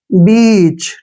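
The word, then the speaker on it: beach: है तो कैसे देखिए इ ए का जो उच्चारण है हम क्या करेंगे यहां पर हम इसका उच्चारण बड़ी की मात्रा करेंगे कैसे ऐसे ठीक है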